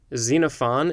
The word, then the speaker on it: Xenophon: asia minor described in the anabasis of xenophon xenophon is spelled x e n o p h o